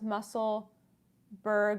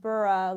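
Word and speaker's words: Musselburgh: what would I see I thought it was pronounced muscle Berg not burrow like Edinburgh I think it's pronounced bura like Edinburgh that's what some I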